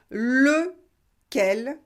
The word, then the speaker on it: lequel: Et faites bien la différence entre le masculin singulier et le masculin pluriel. Masculin singulier, le, quel, pluriel, les, quel. lequel, lesquels.